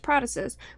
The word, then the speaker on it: protasis: There is the protasis, that's how it's pronounced, protasis, which is the beginning part of the sentence.